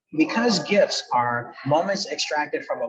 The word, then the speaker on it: GIF: It's hard G, Scott, hard G. Hard G, graphics, GIFs, okay.